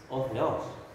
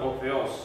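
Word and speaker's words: ὁ θεός: S-nya itu nggak dilafalkan ya? Yang mana, Ram? Otheo bukan Otheos. Yang ini. Salah. Ya, S-nya harus diucapkan. Harus. Harus karena dia sebagai subjek.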